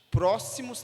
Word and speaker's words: próximo: luxo som de X próximos também é o som de S próximo e o Executivo também